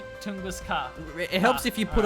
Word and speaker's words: Tunguska: Tunguska. Tunguska. Yeah, there's no T in apart from the first letter.